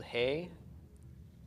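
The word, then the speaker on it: היא: it's pronounced who and the word for she is spelled hey Eric Yoda olive this is pronounced he and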